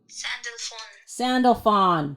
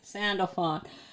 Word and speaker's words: Sandalphon: How do you pronounce it? Ready? Wait. Sandalphon. That's how you say it. Sandalphon.